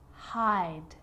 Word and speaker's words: hide: Hop, hope, sit, sight, hid, hide, slid, slide. So see how the E at the end, although it's not pronounced, is affecting the vowel sound before it. It makes it longer.